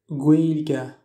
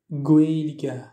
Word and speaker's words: Gaeilge: Et la combinaison des voyelles AEI produit le son aussi de E. Exemple, pour dire la langue irlandaise, en irlandais se dit Gaeilge. Gaeilge.